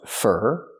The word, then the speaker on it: for: We use for, pronounced fur.